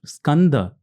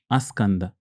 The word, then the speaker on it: Skanda: many people so School can't many people can't scanda many people I've seen pronounced scand as asand Asanda puran so they the slight changes happen